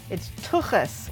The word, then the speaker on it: tuchus: And it's tuchus with the ch. like Hanukkah.